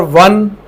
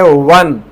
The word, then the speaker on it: won: खां पंहिंजनि खां ॿुधंदो, हिनखे पढ़ंदा आहिनि वॉन, अलाए कहिड़ो सिस्टम आहे हिते जेको आहे, इहो को दिमाग़ में चिंबड़ी पियो आहे हिननि खे इहे लफ़्ज़ जेके प्रोनाउंसिएशन जो बि खानो ख़राबु करे छॾियो अथनि लैंग्वेज जो। इन जो 4 आहे वन।